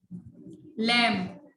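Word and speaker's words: lamb: लैम्ब, लैम्ब बच्चे उसको भेड़ के बच्चे को बोलते हैं लैम्ब्स, बी साइलेंट है।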